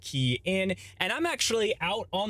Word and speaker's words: Kian: Hey everyone, it's Kian for the Rideshare Guy, pronounced Kian, and I'm actually out on the field today.